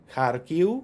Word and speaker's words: Kharkiv: Just make sure there's no f at the end, but just a short u. The same with Kharkiv, Lviv. It's the same thing. It's the final v becomes a bit short, non-syllable forming u.